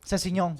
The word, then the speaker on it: Sessegnon: Sessegnon.